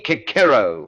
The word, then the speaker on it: Cicero: You say Kakero, the hard C, which is how the Romans almost certainly pronounced it and which gives the name a rather more percussive quality.